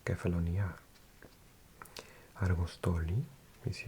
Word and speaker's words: Kefalonia: And it's actually got the accent on the A, so it's Kefalonia.